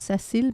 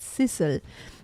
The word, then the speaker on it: Sissel: I think it's the other way, not Cecil, but Sissel.